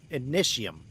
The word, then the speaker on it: ignidium: Now, my first playthrough, I made the mistake and I dumped a bunch of ignidium, ignition is how the game pronounced it.